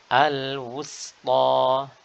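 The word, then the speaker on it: الوسطى: Pastikan kita membaca dengan huruf sin, ya, yang dia merupakan huruf yang istifal, ya, huruf yang memiliki sifat tipis dan tidak boleh ditebalkan meskipun sebelahnya adalah huruf ta yang notabene isti'la dan tebal. Jadi tidak sampai menjadi huruf shad.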